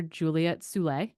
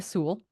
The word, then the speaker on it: Sewell: nice DM because I keep calling her Juliet Soule. And she rhymes with pool. And I was like, I am going to remember this for forever. So Julia Sewell and Lottie Brinks, separated